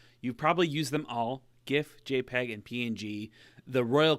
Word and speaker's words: GIF: to talk about is GIFs. Now, they're pronounced GIF, but popular culture has turned them into GIFs, particularly with internet memes and stuff like that. So I'm going to go with GIF, but really they're actually